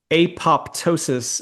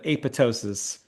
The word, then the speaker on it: apoptosis: Uh if you say apoptosis instead of aptosis, that bothers me.